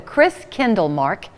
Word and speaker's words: Christkindlmarkt: Community Center for the Chris Kindle Mark did that say it right you did yay I looked at Robert Davis because as I said it I thought oh no is it marked or market so good to see